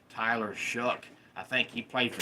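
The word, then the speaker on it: Tyler Shough: It looks like Tyler Show or Tyler Sha, but it's pronounced Tyler Shuck.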